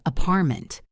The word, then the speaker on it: apartment: The T disappears, or the phrase apartment. You might hear apartment.